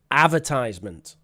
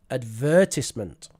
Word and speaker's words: advertisement: So, the way I say this word and the way I have always said this word is advertisement. Advertisement. That is the American pronunciation.